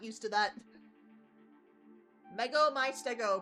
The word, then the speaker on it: Mego my Stego: Mego my Stego, pronounced Lego my ego.